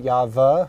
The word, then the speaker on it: Yahweh: The Sephardic Jews, the Yemenite Jews, they still use the Wa, or the W, not the V. So that's another point, that Yahweh or Yehovah, the Vav or the V is not correct based on Hebrew grammar. And actually the Ashkenazis also use the Wa. They know from biblical Hebrew, they know it's Wa.